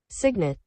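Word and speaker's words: cygnet: that is not how to pronounce can you spell it for me y g n e t Signet Signet okay Signet Signet okay go ahead and continue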